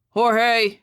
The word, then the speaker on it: Jorge: month or so it's Jorge Roland he pronounced it the Mexican way with an H Jorge your new partners here